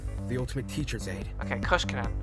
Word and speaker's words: Koskinen: ultimate teacher's aid okay Kos Canan okay I was saying it wrong all right well